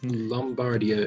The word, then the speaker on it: Lombardia: that's pretty good also lombardia is pronounced with an O it produces wheat as well so it can make the pastry lombardia there we go change